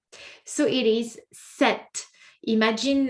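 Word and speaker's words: sept: We say set.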